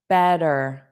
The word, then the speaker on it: better: So, here she wrote a better better. So it sounds like the word bed. Bed. Bed dur. So we have that strong and then you just add a soft dur better better dur better better.